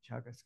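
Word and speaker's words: Teagasc: There's two universities in Cork, and there's also the Agricultural and Food Development Authority, Chagas, it's pronounced, where I worked myself many years ago as well.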